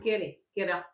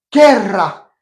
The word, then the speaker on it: querrá: Quera. Non, quera. Très bien, mais alors attention à la prononciation. Querra. Double R.